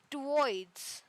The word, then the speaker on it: twoids: I am naming them twoids. Twoids. Yes, twoids. Uh, Actually, so bits are equal to twoids. Bits are equivalent to lumens, not actually lumens. It's twoids. Twoids. The W is silent.